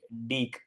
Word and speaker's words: Deek: It's double E-K. Deek. It should be pronounced Deek.